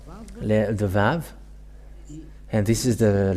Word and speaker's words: Vav: So here is the letter Vav. The Vav. And this is the letter Vav. This is the Vav. The way to read this is V as in Vag.